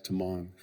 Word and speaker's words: Tamang: So as we see Tamong's name, our first instinct is Tamang, right? So you're going to hear me refer to him as Tamang. So, I've worked hard to to get the correct pronunciation, but if I go back to Tang, please forgive me.